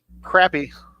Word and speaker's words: crappie: Sonny Richard C wants to know, what about crappie or bass?